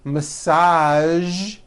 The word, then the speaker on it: massage: Now, there are only a few words that have the voiced zh sound at the end. A few of these words are the color beige, the word massage, and the word prestige.